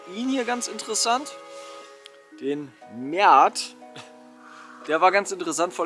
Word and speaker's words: Met: Den Mert. Der war ganz interessant, vor allem als er warm war. Das wird übrigens Miet ausgesprochen, ne?